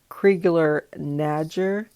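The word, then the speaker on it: Crigler-Najjar: and and that new therapy was to treat kriegler nadger syndrome and it's spelled c-r-i-g-l-e-r hyphen n-a-j-j-a-r it is a severe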